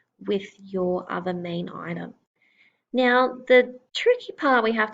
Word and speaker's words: yen: the symbol for money it has written yen but it is pronounced N so this is what